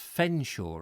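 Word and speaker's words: Featherstonehaugh: Featheringham is pronounced Fenshaw, apparently.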